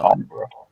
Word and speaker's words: timbre: So maybe Accent, voice, timbre. It's all fair game. absolutely. It's actually pronounced Yeah. Tombra.